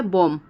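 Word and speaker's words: bomb: चोटी करते बाल झाड़ते हैं फिर होता है बोम ठीक है बम तो वहां पर भी नहीं हो रहा है ब का उच्चारण ठीक है लास्ट में वैसे ही होता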